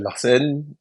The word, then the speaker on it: Lahcen: Ok, bah moi je m'appelle Larsen, avec un H, parce que assez compliqué à prononcer en français.